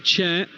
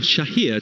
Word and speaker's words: Chair: right hand side to chair or Shah here to give him his proper pronunciation but chair very much the accepted way of saying his surname in these parts field is out on